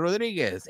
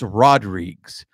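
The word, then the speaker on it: Rodrigues: teacher that his his last name was Rodriguez but he spelled it with an S right and so everybody would like hey first day of school Mr Rodriguez and he would get so mad and he's like it's rodriges and we were just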